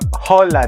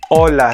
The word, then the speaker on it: hola: say silent h or holla no so you have to say it hola so we don't pronounce h in spanish okay so we say